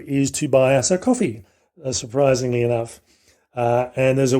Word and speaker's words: Ko-fi: to buy us a coffee, surprisingly enough. And there's a website that we use, which is linked through our webpage called Ko-fi, or Coffee, it's pronounced.